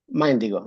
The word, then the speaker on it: Mindigo: It's a pleasure to have how is it pronounced? Mindigo? Mindigo, yeah, from Mind.